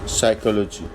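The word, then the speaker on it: psychology: The beginning of word अगर किसी word के शुरू में पी एस आ जाए तो उसमें पी साइलेंट होगा। जैसे साम एस एल साम साइकोलॉजी और साइकेट्री इन सब में हमने देखा कि पी साइलेंट है।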